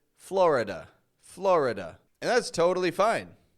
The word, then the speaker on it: Florida: I'm not saying Florida or florid but rather Florida older Generations will say it like Florida Florida and that's totally fine but the fact